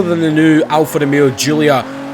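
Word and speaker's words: Giulia: the new alfha rero Julia quadrifolio I believe that's how you pronounce it I don't think you pronounced the G uh I know a lot of you guys were saying that and you were getting on me about saying the G in the name but it's the quadrifolio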